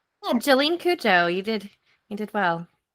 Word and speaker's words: Jolyne Cujoh: Listen, correct me if I say her name wrong. Okay, Jolene. Um, Cooa. Did I say that right? Jolene Kujo, you did you did well.